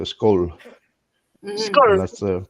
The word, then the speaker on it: skål: It's like pronouncing bowl, but just what's the best way? Take the B and just put SK in front of it. So skol.